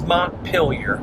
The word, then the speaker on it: Montpelier: So the correct pronunciation is Montpelier.